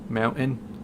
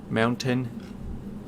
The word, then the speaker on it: mountain: How I don't pronounce the T. Mountain. Mountain.